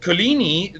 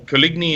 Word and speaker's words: Coligny: you don't mind but Collini that town to give it the sort of original French pronunciation or Coligny if you prefer was is is